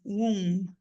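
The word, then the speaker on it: womb: é um U são dois US room w wom tá there are two Twins in the wom e o b é mudo a boy and a girl vão tentando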